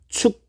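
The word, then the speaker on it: Ćuk: 컨버터 법 부스트 컨버터 축 컨버터 자 이거 커그라고 읽으면 안 되고 축이라고 있습니다 축 컨버터 4가지로 나뉩니다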